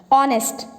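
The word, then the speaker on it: honest: ऑनेस्ट, our, honourable, honour, air, heirloom. ठीक है, अब देखो मैंने 6 वर्ड्स तुम्हारे आगे बोले हैं, दिखने में शुरू हो रहे हैं ये एच से, बट एच इज साइलेंट।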